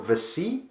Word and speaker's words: Viccei: On the day of the robbery, Valero Vici, it's spelled Viccei, and another man walked into the Knightsbridge Safe Deposit Center and asked to rent a deposit box.